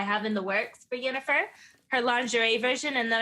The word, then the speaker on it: Yennefer: Someone said that they know you watch The Witcher, and they said Yennefer, Triss, or the Bard. I don't know if I pronounced that right, but Yes, okay. Definitely Yennefer.